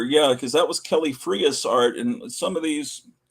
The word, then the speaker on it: Frias: on these ace doubles, which I used to think was pronounced freeze, but its Spanish pronunciation is Frias.